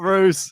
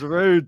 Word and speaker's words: Ruud: you say my name it's not Roose it's rude tonight sain come on